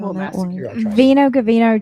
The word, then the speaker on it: Vino Ghvino: And Jamie, I want you to pronounce the name of your winery cuz I'm a little shaky. Veno Gavino 21.